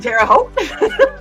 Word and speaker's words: Terre Haute: in Terre Haute. And Terre Haute. It rhymes with both.